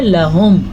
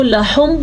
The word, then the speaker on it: لہم: قیل لہم۔ ہا کے تلفظ کا خاص خیال رکھنا آپ نے، کیونکہ جو ہا ہے یہ سینے سے نکلتی ہے۔ اکثر لوگ اس کو لحم پڑھ لیتے ہیں تو وہ ایک بڑی غلطی ہوتی ہے کیونکہ ہم اس